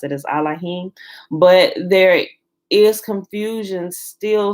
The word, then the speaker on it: Elohim: and also even although allahim is the proper pronunciation of elohim there is um a